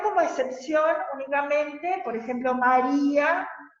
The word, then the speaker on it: María: No, el hiato como excepción únicamente, por ejemplo, María, que en realidad no tendría que llevar tilde, pero lleva tilde porque es hiato, porque se acentúa, en realidad sería una grave, se acentúa en la penúltima, bien digo, sílaba y